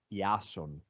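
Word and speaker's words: Ιάσων: you this it's not how we we pronounce it in Greeks uh I'm Greek guys so we actually call it yasun okay so that's a proper name it's cooler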